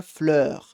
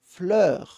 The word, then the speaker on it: fleur: Aqui, uma das palavras que às vezes dá alguma complicação para pronunciar é a palavra fleur, com esse som de né? Percebe a minha boca como é que ela faz?